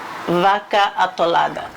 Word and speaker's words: Vaca Atolada: I am making something called Vaca Atolada. Vaca Atolada.